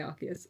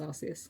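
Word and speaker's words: Arceus: I I say Archus. It's pronounced Arus.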